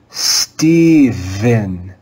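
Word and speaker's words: Stephen: sound philip philip philip the third sound represented by the english letter p is that sound of the voiced digraph ph let's read this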